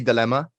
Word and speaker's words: DLMA: I'm pronouncing it right. It's supposed to be Dilemma.